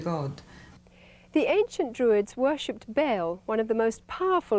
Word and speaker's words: Baal: It's pronounced Baal.